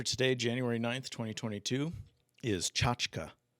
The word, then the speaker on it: tchotchke: The word of the day for today, January 9th, 2022, is tchotchke. Tchotchke.